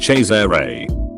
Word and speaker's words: Cesare: There was this kid in my class named Cesare, pronounced Cesare, but everyone thought it was pronounced Caesar like the salad.